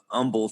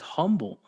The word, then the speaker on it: Humble: Middle School my mother moved me to uh Umble Texas uhuh Umble there we go and um a lot of people a lot of people pronounce that as humble but uh yeah yeah but it was always